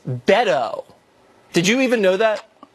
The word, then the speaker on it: Beto: It's Beto O'Rourke. Not Beto, it's Beto.